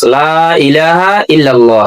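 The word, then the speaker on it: لا إله إلا الله: যদি বলেন লা ইলাহা, লা এটা 3 আলিফ টানা, এটা টানতে হবে কমপক্ষে 1 আলিফ টানা ফরজ। লা কমপক্ষে 1 আলিফ টানা ফরজ। লা ইলাহা ইল্লাল্লাহ, এটা আপনাকে এইভাবে উচ্চারণ করতে হবে।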